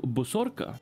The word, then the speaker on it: Bosorka: welcome you all to bosorka which I'm pretty sure is how you're supposed to pronounce it this is a action